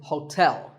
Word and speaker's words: hotel: interesting number 12 is hotel there are two syllables ho and tell like the English word tell as in tell me the stress is on the second syllable so hotel a related word is sweet